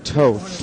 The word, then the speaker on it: Toth: Baron Vangor Toth. Toth, right? That's what I thought. Rhymed with both.